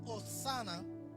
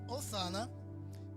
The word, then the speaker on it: hosana: Para aquellos que les gusta anotar en el significado bíblico, la palabra hosana es una exclamación de júbilo que significa sálvanos te rogamos.